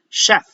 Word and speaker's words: chef: Mission, chef, motion, special. Notice that even though this word is spelled using a letter C and an H, we still pronounce the SH sound.